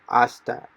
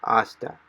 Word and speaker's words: hasta: silenced so it is asta so h we don't pronounce the h so it is asta until and the last